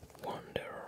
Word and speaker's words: Wonder: La pile Wonder. Wonder, pardon. Fondé en français. Prononcé fondé en français. Mais ça vient bien de Wonderful. Mais les gens disaient fondé ou fondeur.